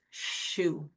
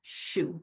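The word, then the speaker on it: xu: And the liver's healing sound is shu and it's spelled x u. And it's pronounced shu.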